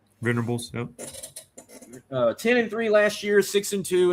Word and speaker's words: Venables: Venables, yep.